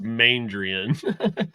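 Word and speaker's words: Maindrian: Halicki as Main Drain Pace. What the hell is that? It gets pronounced Mandrian. No. I want to call him Main Drain.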